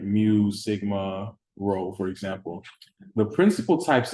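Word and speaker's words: rho: parameter is row right it looks like a p but it's pronounced row right so long story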